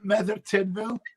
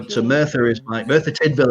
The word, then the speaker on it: Merthyr Tydfil: How do you say it? Motherfucker. Isn't it Mother Tidville? Yep. Yeah. So Merthyr Tydfil is my hometown.